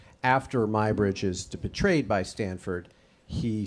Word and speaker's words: Muybridge: But I will just say that English people say Muybridge, and since he was English, that's the way I've always gone, because it's in England it's pronounced Muybridge.